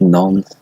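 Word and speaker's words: Nantes: Apparently, it's pronounced Nons, but sorry. Nons.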